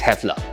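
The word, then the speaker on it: Häfele: years old german and its brand is hard to pronounce well it's hefla established in 1923 in germany hefler today is one of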